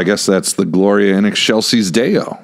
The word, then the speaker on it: excelsis: And he'd go, "You got to say it like this, in Excelsis Deo, eggshells."